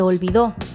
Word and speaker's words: olvidó: Acuérdate, no es lo mismo olvido que olvidó, que lleva acento en la última O y es un pasado.